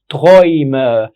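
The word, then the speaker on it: Träume: لان الكلمه اتحولت من مفرد بقت جمع، وبدل ما كان اسمها تراوم انطقها معايا هتبقى ترايم. ترايم der Traum دي ترايم. تراوم ترايم اتحولت من مفرد بقت ايه؟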